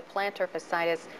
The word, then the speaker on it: plantar fasciitis: feet working on the recumbent bike but the plantar fascitis am I pronouncing that right yes you are goes on